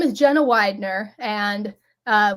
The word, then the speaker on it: Weidner: my name is Jenna Widner and uh Widner is spelled we NE r as it's put on this screen here some people can get a little confused by that um but you can